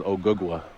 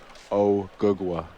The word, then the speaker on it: Ogugua: My real name is OGUGUA.